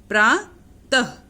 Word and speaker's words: प्रातः: और इसका उच्चारण, इसको बोलते हैं अह की ध्वनि निकलती है। ठीक है, जिसका उच्चारण अह की तरह होता है। जैसे प्रातः, स्वतः, प्रातः स्वतः उठा